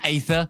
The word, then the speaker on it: Aether: Leaf is annoyed that the vote ended up going to ather instead of ether that conversation yesterday lasted